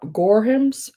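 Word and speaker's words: Gorham: Next up are the cherub uh gore gorehams. Gore let me let me spell it to you.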